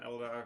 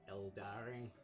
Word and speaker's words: Eldar: no matter what happened, it was an Eldar victory. Or Eldari, or however you pronounce Eldari. it. Yeah. It's not Eldari. It is. It's Eldar. That's what I say.